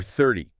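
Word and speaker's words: thirty: But using a clear T sound, like you might hear more in British English, 30 is also perfectly fine and understandable.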